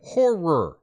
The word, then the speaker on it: horror: got to be careful when you say horror you don't want to say it too quickly yeah I really like horror films what what' you say I said horror horror two syllables uh uh it was